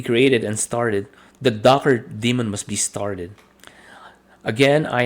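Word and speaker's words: daemon: you to run containers the docker demon or service demon is spelled like this okay or Damon so Damon is the same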